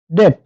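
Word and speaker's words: debt: বলবো এটাও হবে না এর সঠিক উচ্চারণ হচ্ছে ডেট ডেট মানে হচ্ছে ঋণ ডাউট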